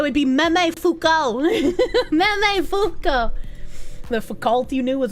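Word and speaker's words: Foucault: Fukco would be the best way to pronounce it if you're pronouncing it correctly.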